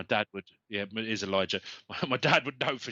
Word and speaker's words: Elijah: Am I pronouncing that right? Elijah. My dad would. Yeah, it is Elijah.